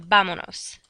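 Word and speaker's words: vámonos: of irse, before I attach that nos reflexive pronoun, I have to drop the S, and it's going to become vamonos, because I drop the S, attach the nos, and we still need an accent on the penultimate syllable, not counting the pronoun.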